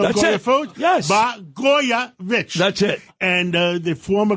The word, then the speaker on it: Blagojevich: Blagojevich.